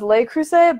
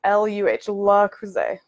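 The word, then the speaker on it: Le Creuset: it's up I always thought it was lake crusade but I was at the outlet a couple weeks ago and Delaware and it was they had a thing there that showed you how to pronounce it says luh luh Cruz a so if they say that's how you pronounce it I guess that's how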